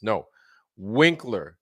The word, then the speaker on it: Winkler: Winkler. Not like Winkler, like Henry Winkler, fame from Fonzie from Happy Days. No, Winkler.